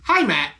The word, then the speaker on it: Heimat: This time, we are giving you the brand new release by Heaven Shall Burn, Heimat. That is legit how it's pronounced.